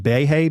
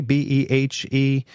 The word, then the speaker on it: Behe: His name is Michael, I guess it's pronounced Behe, Behe, who was actually just up north of me here at Lehigh University.